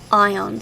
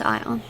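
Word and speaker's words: ioun: I can yeah um ion is spelled i-o-u-n oh some people spell it as lone stone l-o-u-n but I I think it's ion oh where is it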